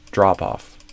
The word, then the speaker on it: drop off: would stress the drop so instead of drop off I would do drop off the so similar to adbacks and write offs drop off stress the first one not the second one counting for the largest drop